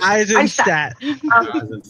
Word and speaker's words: Eisenstadt: I'd say German way. Eisenstadt. Yeah, I said it right.